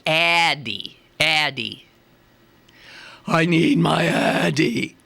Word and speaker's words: Addyi: And it turns out it's pronounced Addyi.